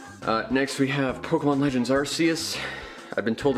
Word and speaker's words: Arceus: Next we have Pokemon Legends Arceus. I've been told it's pronounced Arceus, but the reason why it's apparently pronounced Arceus instead of Arceus is because they don't want the term arse in its title.